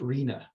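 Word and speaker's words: RHNA: the Regional Housing needs allocation or its acronym pronounced Rina first though slow Cog might not be recognizable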